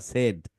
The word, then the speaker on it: said: মাইনো সেড, সেড শব্দটা কিন্তু সেইড না, সেড।